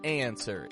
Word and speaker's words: answer: spelled in the word answer is the W pronounced no it is not the W is not pronounced it totally disappears this is an anomaly